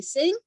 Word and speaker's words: Singh: pronounced sir t and my last name is singh as in song and i say this